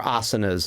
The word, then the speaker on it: asana: So you're practicing these postures, which are known as the asanas, and or asanas is another way they pronounce that.